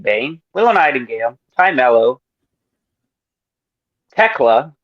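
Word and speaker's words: Thekla: Chris Statlander, Megan Bane, Lillian Nightingale, Ty Melo, Teela. Apparently, that's how you pronounce her name. It's not Techla.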